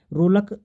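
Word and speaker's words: RLEK: रूलक संस्था बनाई थी अवधेश कौशल ने। और रूलक जो कि ये है रूलक, प्रोनाउंसिएशन ये है इसका।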